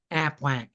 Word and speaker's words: APWEC: And you say it like a duck, APWEC.